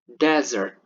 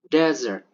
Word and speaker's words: desert: long and the short The first word is pronounced as desert, desert.